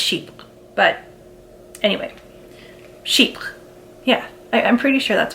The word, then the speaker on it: Chypre: French I know um I'm pretty sure it is pronounced sheep but then sales associates will say chippers so I'm not sure